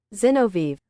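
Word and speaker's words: Zinoviev: Um Xenov pronunciation. Oh, Zenoviv.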